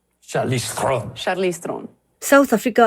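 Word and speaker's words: Charlize Theron: mai thin po hi South African thovani You pronounce your name? Charlize Theron. I much prefer that. That's so much sexier. Say that again. Charlize Theron. Charlize Theron.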